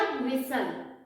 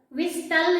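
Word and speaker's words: whistle: तो देखिए इसमें भी एस के बाद टी आया है ना, वीक साउंड है, तो इसका प्रोनाउंसिएशन भी कैंसिल आउट हो जाएगा. तो क्या हो जाएगा? विसल. विस्टल नहीं होगा, क्या होगा? विसल. T cancel out.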